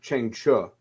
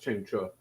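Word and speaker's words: Chang Cheh: Chang Che's name is pronounced Cheng Chu, which I did not know that. But listening to special features, it's pronounced Cheng Chu.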